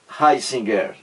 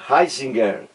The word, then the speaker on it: Ratzinger: aí entra o Josef o Josef heisinger não é isso a pronúncia aí em alemão como aí me informou